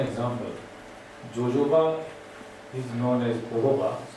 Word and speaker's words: jojoba: Jojoba is known as jojoba, pronounced as jojoba.